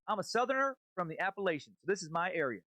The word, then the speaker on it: Appalachia: end of the range the natives all pronounce it as follows appalachia and appalachian how you pronounce this word has more meaning to those of us from the area than just mere differences in dialects this is one of the words used to immediately identify you if you pronounce it